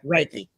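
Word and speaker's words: Reiki: the combining what you do holistically with the Riki am I saying it right am I sayik yeah raiki raiki yoga and the sound bows and I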